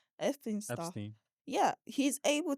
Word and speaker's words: Epstein: Because with Xpeen, is that how you say his name? Epstein stuff.